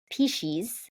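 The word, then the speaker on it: piscis: thought maybe it would be similar it's it's pronounced piches and it's p i s c i s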